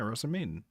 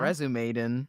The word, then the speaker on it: Rozen Maiden: Yeah, Rozen Maiden. Did I You say said it wrong? Resume Maiden.